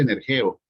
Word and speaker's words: energeo: la g-17 54 y se pronuncia se dice energeo que es poner en